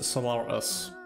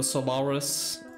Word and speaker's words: Solaris: that was Solaris yes so solar us um no Solaris Solaris spelled like this